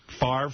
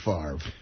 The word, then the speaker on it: Favre: Favre. Favre. Yeah. F. F. F a RV. Favre. That's how you pronounce it.